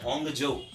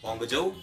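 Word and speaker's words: Hangzhou: तो होंगजो। क्या नाम है? होंगजो। ठीक है, ये थोड़े चाइनीज नाम प्रोनाउंस करने में थोड़ी सी दिक्कत होती है, लेकिन ये होंगजो जो है, ये इसको ध्यान रखिएगा।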